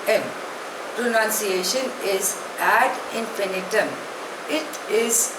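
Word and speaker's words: ad infinitum: 1947 एडी the next word is eight इंफिनिटम spelling is ए डी आई एन एफ आई एन आई टी यू N pronunciation is एड इंफिनिटम इट इज अ Latin word it means endlessly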